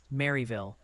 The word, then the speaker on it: Maryville: They're gently reminding you it's pronounced Maryville. Really hit that Mary in Tennessee.